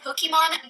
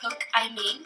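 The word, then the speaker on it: Pokimane: And it's actually pronounced Pokemon, not Poke-I-mean, because it's supposed to be a combination of my name, Iman.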